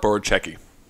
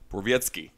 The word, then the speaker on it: Borowiecki: Pretend there's a Z somewhere at the end. Borowiecki. No, closer. Borowiecki. Yeah. Say it all together. Mark Borowiecki.